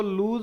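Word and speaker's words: lose: Next word note करेंगे, इसको लूज बोलते हैं, प्रोनाउंसिएशन इसका लूज होता है। कभी आप कहो कि ये लॉस होता है, नहीं, लूज होता है प्रोनाउंसिएशन।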